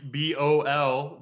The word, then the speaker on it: Daebol: It's at Daebol, Daebol. That's the correct pronunciation, by the way.